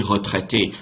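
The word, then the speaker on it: retraitée: And they sound the same. Retraité, retraité. When you write them, there's a difference, okay? You don't pronounce the extra E at all.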